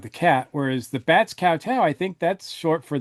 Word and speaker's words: kowtow: All right, so this is Batman Season 2, Episode 30, The Bats Kowtow. Or is that Koto? now it's kowtow. Okay. The Bats Kowtow. It's got to rhyme with meow.